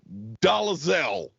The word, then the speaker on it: Dolezal: His name is Glenn Dolezal. It's exactly how it sounds.